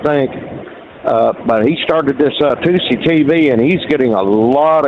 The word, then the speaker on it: Tousi: On Scenic Route was talking about 2CTV. It's if you're not familiar, it's spelled TOUSI. It's Mayhar 2C, and his father sent